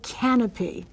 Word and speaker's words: Kanopy: They have something called Canopy. That's spelled with a K. Kanopy.